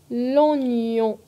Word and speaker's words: l'oignon: Prononcez fermement la nasale. L'oignon, gnon, l'oignon.